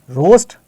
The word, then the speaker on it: roast: ए की साउंड नहीं आती है, ए साइलेंट रहता है. Okay, similarly we have more words here like load, soap, coach, loaf, BOAT, बोट, ROAST, रोस्ट, TOAD, toad, GOAT, गोट.